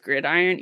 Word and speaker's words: Gridiron: I just realized it's pronounced Gridiron yeah it's pronounced grid